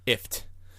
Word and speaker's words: IFTTT: talking about it's pronounced ifft but it is if yeah but a lot of cat I read that somewhere that is pronounced like gift Taylor just okay but